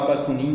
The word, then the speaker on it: Bakunin: Pensadores como Mikhail Bakunin, a gente pode falar Bakunin, que é melhor até a pronúncia aqui, concordavam em parte com as